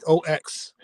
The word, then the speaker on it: Maddox: Maddox. So my stage name is, still And spelled with two D's.